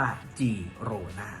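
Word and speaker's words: Girona: ครับ อย่าง เช่น เคตาเฟ่ แต่ เมื่อ เป็น ตัว G ใน ภาษา กาตัน นะ ครับ จะ ต้อง ออก เสียง เป็น จอ จาก แล้ว ก็ โรน่า ทีม นี้ เป็น ทีม ที่ อยู่ ใน แคว้น กาตาลุญญา ดัง นั้น แล้ว นะ ครับ ที่ ถูก ต้อง จึง จะ ต้อง ออก เสียง ว่า จีร่า นะ ครับ นี่ ก็ คือ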